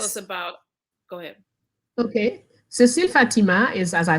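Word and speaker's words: Cécile Fatiman: Okay, you brought up Cecile Fatima.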